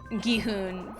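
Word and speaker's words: Gi-hun: And I was trying to say Guhun and it it was a conscious effort to say Guhun, but my mouth was just like Guihan.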